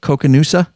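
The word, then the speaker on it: Koocanusa: Coconoosa?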